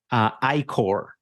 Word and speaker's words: I-Corps: ICOR. It's ICORPS. Okay. The P is silent.